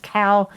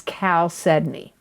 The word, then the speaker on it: chalcedony: e d o n e y it's not pronounced cow it's not pronounced chao sedney it's cal sedney okay so and chalcedony can look many different